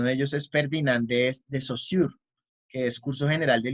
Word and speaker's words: Saussure: Técnicamente creo que se pronuncia Saussure.